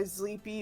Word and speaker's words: Zleepy: Well, I usually try to go by Zleepy or.